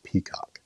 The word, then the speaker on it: PECOC: So the first thing, the most important thing is how to pronounce our project name. It's pronounced PECOC.